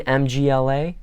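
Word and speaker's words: мгла: How in the world do you combine MGLA? MLA pronounce the M and then blend the G and the L.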